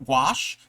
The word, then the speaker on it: gouache: you're practicing paint uh to paint uh gua gouache. Gouache. That's the word. Gouache. I when I read it, I know it's not really spelled the way that I want to pronounce it.